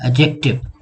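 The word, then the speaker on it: adjective: एडजेक्टिव कहते हैं इसम शिफ्ट को, ये एडजेक्टिव नहीं है, दिस इज एडजेक्टिव। इसमें डी साइलेंट है, एडजेक्टिव।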